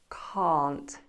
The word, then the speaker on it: can't: Bear in mind that difference in pronunciation, can can't, can can't. Completely different vowel sounds.